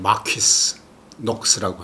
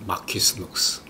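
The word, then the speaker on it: Marquise Knox: 발음하기가 우리가 좀 힘들어요. 마퀴스 녹스라고 하는데, 마퀴스 녹스.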